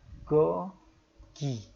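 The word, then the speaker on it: 고기: Daging bahasa Koreanya gogi. Ini daging. Nah, kita harus ingat ketika kita belajar vokal ya. Go, bukan go. Bukan go, tapi gogi. Pakai O, bukan O. Jadi kan kita biasa ada O, ada O. Tapi ini yang O ya, yang ngadep ke atas ini yang O.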